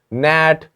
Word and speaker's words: gnat: Gnat, G is silent.